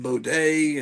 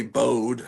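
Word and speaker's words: Bodé: the work of V bod day and like I guess that's how you pronounce it and I used to say Bode I had no but there's an accent mark over the E and uh you know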